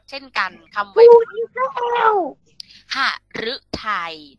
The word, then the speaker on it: หฤทัย: กัน ทำไม พูด เล่า หฤทัย ตัว ฤดู บอก แล้ว ว่า ออก เสียง เรือ แต่ ถ้า เป็น หรือ หัว ออก เสียง เป็น ล ลิง นะ อะ หฤทัย ก็ แปล